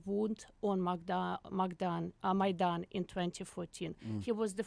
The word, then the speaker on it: Maidan: I'm Mis- How do you pronounce it? Maidan.